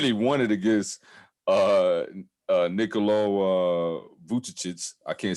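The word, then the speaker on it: Vučević: The skills competition, somehow Domantas Sabonis won it, and he won it against Nikola Vucevic.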